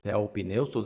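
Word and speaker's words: θεόπνευστος: Theopneustos, acento na primeira sílaba.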